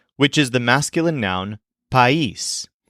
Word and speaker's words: país: Let's begin with the word for country, which is the masculine noun país, spelled P-A-I-S, but with an accent on the I.